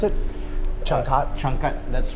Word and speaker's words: Changkat: So how do you pronounce it? Changkat?